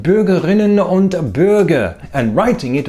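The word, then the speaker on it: Bürger*innen: With a glottal stop. This is a sound made by closing the glottis in the throat. So instead of Bürgerinnen, you say Bürgerinnen.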